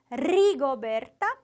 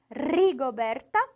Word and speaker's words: Rigoberta: indígena vamos lá rigoberto desafio aí esse R forte do começo rigoberto rigoberto e lixo esse final que também é forte né não pode se aproximar